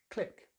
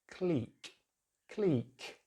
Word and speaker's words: clique: Americans just use the short vowel sound, which is I, so they say click, just like that. But in British English, it's clique.